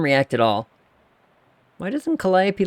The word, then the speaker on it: Calliope: his cat's name oh Calliope oh I love it I love this cat also how many people read that and didn't know that's how you pronounce that word um anyway Calliope Marie got her a